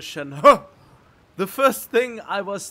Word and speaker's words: Shenhe: mean yeah that's i i expected her to be pronounced shen hey and when i saw the trailer of her and she said that her name is shanhua the first thing i